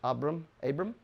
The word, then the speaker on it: Abram: Abram?